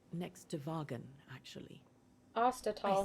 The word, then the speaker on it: Ostertal: Ostertal. I see. That's how you say it.